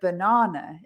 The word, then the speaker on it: banana: it because it's interesting with the word banana in english we spell it the same as in spanish but in spanish the it's got three a's in it right and in spanish because spanish is phonetic you say ba na so it's chocolate chocolate so